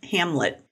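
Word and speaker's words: Hamblet: yep so Brian Hamlet Hamlet it's h-a-m-b-l-e-t so maybe it's a silent B another passenger was inside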